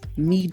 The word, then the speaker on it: Meed: I'm joined by the CEO of ME networks.